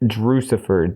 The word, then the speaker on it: Drewxcifer: And on top of that, you can find me at Drewcifer, DREWXCIFER, rhymes with Lucifer, everywhere.